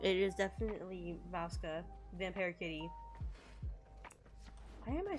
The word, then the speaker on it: Vasca: It is definitely Vasca, Vampire Kitty.